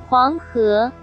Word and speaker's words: Huanghe: But in case you are interested how to pronounce her name properly, here you go. Huanghe.